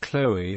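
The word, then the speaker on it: Chloë: Examples include the given names Chloe and Zoe, which otherwise might be pronounced with a silent E.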